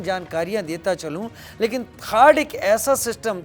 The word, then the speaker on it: THAAD: कर पा रहा है थर्ड यानी टी एच ए AD spelling इसकी यही है जिसको अमेरिकी सेना थर्ड कहती है हम थड के बारे